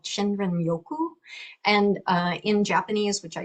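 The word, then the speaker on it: 森林浴: a Japanese practice called Shinrin Yoku. And in Japanese, which I do not speak, they don't pronounce the R as like that. It's more like a D, Shinjin Yoku.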